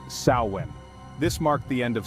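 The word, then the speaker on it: Samhain: Kelts celebrated samhan or I'll do my best to properly pronounce it saan this marked the end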